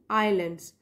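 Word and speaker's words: islands: like तू travel पर आईलैंड्स यहां पर जो एस है वह साइलेंट होता है पढ़ने समय तो हमको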